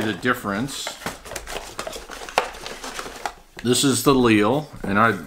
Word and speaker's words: Clyn: This is I'm assuming it's pronounced Clyn, C-L-Y-N.